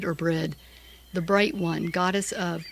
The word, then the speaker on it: Brigid: And her name you can either either either say it Brigid, which most people do and that's why I pronounce it that way, but the actual pronunciation is Breed or Breed, the bright one, goddess of poetry, of the